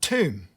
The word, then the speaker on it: tomb: l is silent and tomb the b at the end of the word is silent so what you're going